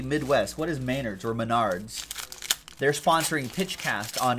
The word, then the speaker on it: Menards: Bove and the Stroh's it's pronounced Menards it doesn't exist out here I don't have to learn how to pronounce it Rex Bernards met ARDS well next time on